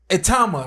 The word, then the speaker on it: Itauma: This kid, Itauma, right?